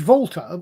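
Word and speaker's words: Walther: um so i know that difference yeah it's volta it's not a walter ppk it's a volta ppk it's in in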